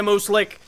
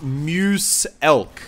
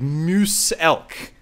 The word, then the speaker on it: Muselk: your name it's pronounced Muse elk like Muse elk so it's like a like a moose and an elk together like like the like